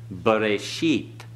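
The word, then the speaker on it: בְּרֵאשִׁית: Okay, remember the schwa at the beginning vocal is B. Okay? B. What's the next vowel? The two dots side by side? Tsere. Ba-re. Hirek. E. Okay. Bereshit.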